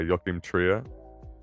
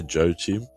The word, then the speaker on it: Joachim Trier: our next film um Sentimental Value directed by Yokim Tria. Is that how you say his name? Yeah. You don't say you don't say Joe Chim.